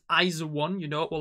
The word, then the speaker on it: IZ*ONE: i've already already realized i used to pronounce um the group name as ice one but it's iso one you know or like